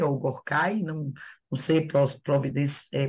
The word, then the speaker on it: Gorky: o O primeiro lá Márcio, é Gorkai ou Gorky? lá em cima, É, Gork. o primeiro, Gorky. Pronto. É, Ele é tá vendo? armênio, tá? Se eu tenho É dificuldade de russo, eu lembrei por pronunciar. causa do Maximo Gorky, o escritor russo.